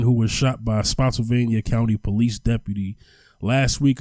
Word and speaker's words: Spotsylvania: Spotsylvania?